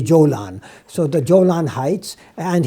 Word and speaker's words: Golan: Golan Heights you know in Arabic you know the Egyptians and pronounce the gim as gim so Golan is actually Jolan so the Jolan Heights